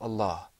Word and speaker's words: Allah: me Allah Allah ok we're going to be talking about the lamb in that word this lamb is a very interesting lamb sometimes it's pronounced with the full mouth sometimes not so the question that